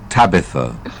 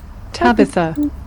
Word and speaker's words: Tabitha: Табита, pronunciation. Cambridge Dictionary. Tabitha. Табита. Tabitha.